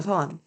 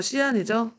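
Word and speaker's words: 西安: 장안은 그 전에는 이제 호경이라고 불렀었고, 그리고 지금 현재는 이름이 뭐냐면 그 서안이에요, 서안. 중국 발음으로 시안이죠.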